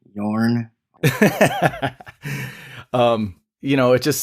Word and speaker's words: Joran: thing with him with Yorn I think is how you how I saw it pronounced oh that it's j okay I think so not joran all right yeah but don't